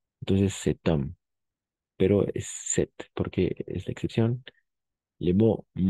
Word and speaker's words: cet: Entonces cet homme, pero es set porque es la excepción.